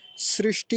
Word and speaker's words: सृष्टि: कहते हैं सृष्टि सृष्टि यह वाला श्र बोलते हैं ऐसे नहीं बोलेंगे ना ऐसे लिखेंगे सृष्टि होता है श्री सृष्टि और बीच में मूर्धन्य सकार होता है तो इसका भी उच्चारण अच्छे से करेंगे सृष्टि और आगे क्या